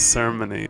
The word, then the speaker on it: ceremony: that's just, you know, I've always thought of that word as ceremony, so I guess it didn't occur to me that a lot of the audience would find that pretty alien. But it's one correct way to say that word, and if I grew